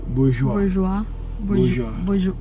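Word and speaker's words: Bourjois: Bourgeois? Saan? Saan brand? Here. Tata. Labo ng mata. Bourgeois? Bourgeois. French yan.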